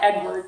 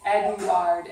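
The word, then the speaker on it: Édouard: It's not like Edward like we say here. It's Eduoard, and the accent is on the ard part of it. So you can have the class say Eduoard.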